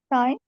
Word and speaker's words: sign: yeah the G silent sign yeah sign exactly sign here signature so notice that the g is silent okay so we notice